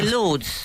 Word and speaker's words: Lourdes: Well, I've been to Lourdes and I still don't know how to pronounce it. We'd say Lords.